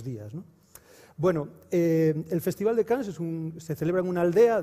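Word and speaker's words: Cans: se llama cannes y todos sabéis cómo se pronuncia aquí en españa en galicia cannes como el can francés y empezamos con una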